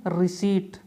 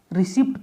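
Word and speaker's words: receipt: Next word is रिसीट। Maximum लोग इसे रिसिप्ट पढ़ते हैं, रिसिप्ट। इसका ध्यान रखना है, इसे हमें रिसीट पढ़ना है, रिसीट। इसमें जो पी अल्फाबेट है is silent is this word.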